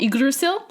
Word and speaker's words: Yggdrasil: They're all kind of interconnected because they're all part of this giant world tree called Yggdrasil. Huh. Which that was a great pronunciation.